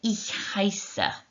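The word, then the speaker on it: heiße: name is you say isa okay so you've got the e i sound in there so e i makes i sound and then this sound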